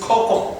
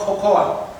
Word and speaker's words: cocoa: Now, A again is not sounded in cocoa. It is cocoa, not cocoa.